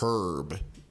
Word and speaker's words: herb: I don't know why all these food reviewers, like, they see the H on paper and they're like, oh my God, I never knew. And it's like, no, it's okay. American English, you can just say herb.